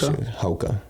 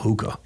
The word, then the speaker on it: Hoka: my two main ones Hoka is that how you say it yeah okay yeah I didn't even know that oh yeah I was calling them hookah yeah no it's okay like the hookah bar or whatever yeah yeah yeah well